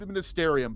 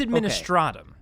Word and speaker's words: Administratum: admin start stum administ I've been calling it ad ministerium but is that how you say it I believe it's administratum adrum yes I I don't know why that's not ministerium it's not even close to the L administratum